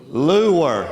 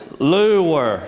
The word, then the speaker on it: lure: from Georgia okay so you have to say it with two syllables it's a lure y'all say it like they just like sewer with an L okay Lu were very good now i